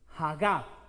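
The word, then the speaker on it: הָגָה: Hagab, con tilde en la A final.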